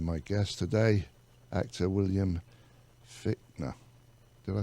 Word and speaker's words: Fichtner: And we're here with my guest today, actor William Fichtner.